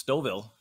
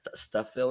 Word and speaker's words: Stouffville: or the 10th well now that I know how to pronounce stovil you expect me to get that right I've been saying it wrong this whole time you were yeah right stuff Phil or something yeah I don't know uh